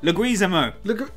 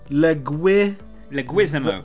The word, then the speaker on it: Leguizamo: And let's try again with the pronunciation. Okay, so we got this wrong again last week. What did we get wrong? Leguizamo.